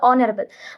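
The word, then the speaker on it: honorable: அது ஹா கிடையாது, அது ஆனரபிள். அதே மாதிரி ஹானஸ்டி கிடையாது, அது ஆனஸ்டி.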